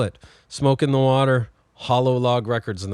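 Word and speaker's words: Hololog: Smoke in the Water, Hollow Log Records, and that's spelled like H O L O L O G. Okay, like hologram or something.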